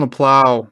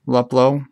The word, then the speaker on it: Luplow: Is it Luplow? How do you say his name? Luplow. Luplow. 11 of 25. Sorry. I like LaPlow. There's a few guys we haven't got hip to the name pronunciation yet.